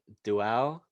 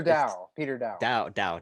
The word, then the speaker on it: Dow: Peter, is it Duau? Peter, it's Peter Dow. Dow.